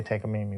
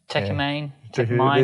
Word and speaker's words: Takamine: I say Takamine. What do you say? Takamine. These are all different pronounces.